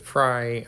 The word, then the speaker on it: Frey: you'll notice the Albert Frey alumin air house and uh someone pointed out that Albert pronounces it fry I hear everyone in